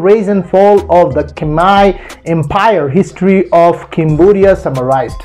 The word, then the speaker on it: Khmer: The Khmer, correctly pronounced Khmer, or Khmer in English, are an ancient people whose culture became heavily Indianized in the region's prehistory.